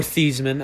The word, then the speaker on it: Theismann: from lawrence taylor yeah or thiesman as notre dame fans know him as before he changed the pronunciation his name for heisman this man yeah but uh yeah